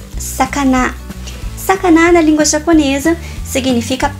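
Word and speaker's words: さかな: Na verdade, se pronuncia sakana.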